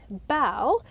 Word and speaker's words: Bael: through in order and it's spelt b-a-e-l and if you have ever read the bible or have a background in christianity you may be like huh that sounds like belle from the bible b-a-a-l and you were not